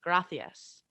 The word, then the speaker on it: gracias: Um, but the way that you pronounce that in Spain is gracias. So there's Mhm. a C, there's a TH with that C.